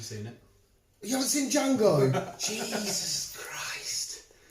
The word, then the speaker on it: Django: You haven't seen Django? Jesus Christ. It's long as fuck, but it's so good. And Quentin Tarantino's voice in it is fucking weird as shit. The D is silent, hillbilly.